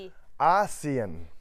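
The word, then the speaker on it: ASEAN: ทาง เศรษฐกิจ เท่า นั้น ขอ ออก เสียง ชัด ๆ อีก ที มี เอเชีย แล้ว ประชาคม อาเซียน อ่าน ว่า อาเซียน เอเชีย อาเซียน คราว หน้า กระชับ กัน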